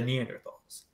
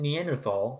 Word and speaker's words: Neanderthal: Now, the name Neanderthal, sometimes pronounced Neanderthal, I tend to prefer the former, comes from the Neanderthal Valley in North Rhine-Westphalia in Germany.